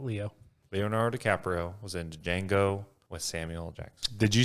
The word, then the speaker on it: Django: Leonardo DiCaprio was in Django with Samuel Jackson. Did you say Django? I did. Yeah. The D is silent.